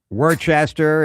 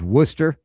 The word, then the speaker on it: Worcester: Worcester is Worcester.